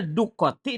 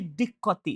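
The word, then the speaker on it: دقة: Tusaidu ala setelah ala pasti i al diqqoti bacanya duqoti daqoti diqqoti itu diqqoti diqqotil fahmi tusaidu ala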